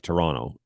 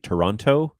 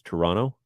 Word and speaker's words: Toronto: you pronounce the city Toronto you're doing it wrong uh you don't pronounce the T you run the N into the O so it's Toronto Toronto no okay Toronto